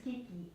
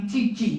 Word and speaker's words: Schicchi: That you can, You can look at, I'm not going to try to pronounce that. Gianni Schicchi. Gianni Cicci. Gianni Schicchi.